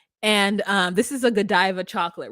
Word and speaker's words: Godiva: be go if anything she's like no it's Joe Diva and then she went and asked there's a couple of other in Costco we were like how do you say this and everyone's like Godiva Godiva and she was like I was calling it Joe diva and he says you